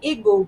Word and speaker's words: Igbo: and now we say Igbo, but it was really Eber or Ebre, really something like that. It's really Igbo. Like the pronunciation, right? The I in Igbo is an E sound.